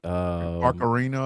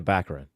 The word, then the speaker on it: Baccarin: I cannot pronounce that woman's name. Oh, let me see. Barcarina or some shit like that. Marina Baccarin.